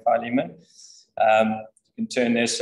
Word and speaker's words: Philemon: in the whole Bible the Philemon some bullet pronunciation is apparently Philemon um you can turn